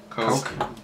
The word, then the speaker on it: Koch: Coke. Whatever. Say it right. Come on. It's not C-O-C-K, it's C-O-C-H. Yeah, just like Heckler & Koch, the gun company that everyone knows about.